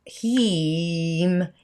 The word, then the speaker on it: HAM: the seed sound of heme it's actually pronounced it's spelled ham h-a-m but it's the e as in sleep so you could he